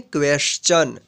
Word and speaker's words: question: जैसे में यहाँ पे देखिए QUESTION, इसको पढ़ेंगे क्वेश्चन।